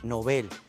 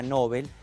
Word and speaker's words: Nobel: en el año 2001 en su lengua de origen el sueco es palabra aguda nobel y así se recomienda pronunciar la en español a pesar de que la pronunciación llana nobel está muy extendida incluso entre personas cultas